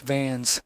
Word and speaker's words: Vance: I doubled back to Charlie Vance, pronounced Vans, at the Blue Note in Harlem, where the air was thick with jazz and cigarette smoke.